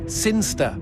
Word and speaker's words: Sinchester: It's pronounced Sinster.